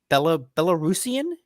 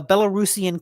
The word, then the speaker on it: Belarusian: And that's kind of a big deal because Wargaming was originally a Belarusian, Mm-hmm. is that how you'd say it? That's how you say it. A Belarusian company.